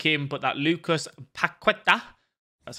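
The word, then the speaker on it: Paquetá: I really like him, but that Lucas Paqueta, that's how you say his name, is a very, very solid card.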